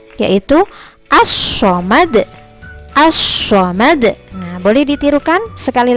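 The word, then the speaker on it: الصمد: Nah, silakan ditirukan Bunius cara membacanya, yaitu As-Samad.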